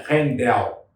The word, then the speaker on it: Handel: Mas a pronúncia é Rendel.